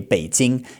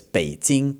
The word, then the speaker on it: Beijing: Beijing. It's third tone, then first tone. And roast duck is actually also third tone, then first tone, okay? So, it's Beijing kao ya.